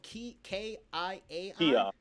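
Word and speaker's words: kiai: Now, why is the Kia, it's spelled K-I-A-I?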